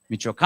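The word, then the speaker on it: Michoacán: I always don't know where the accent is on Mitchell is it Michoacan or michoaca Michoacan Michoacan I got the backup in there all right Michoacan they're the accentos on the towards the end there anyway I had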